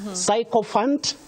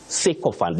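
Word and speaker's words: sycophant: commonly hear around us psychop Fant no you say cant C pyant with that pure vowel sound e seant just like system not system syllabus not syllabus seant not psychop Fant I know it is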